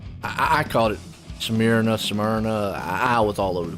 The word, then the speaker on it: Smyrna: i'd say uh how would how would you pronounce this track's name let me get that out of the way first smyrna yeah tanner's like meat uh i i caught it samir enough smyrna i was all over the place man there's